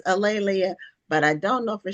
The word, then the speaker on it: A'Lelia: And my name is pronounced Alelia. And one Okay. easy way to remember it is that it rhymes with Amelia or Oh, there you Okay.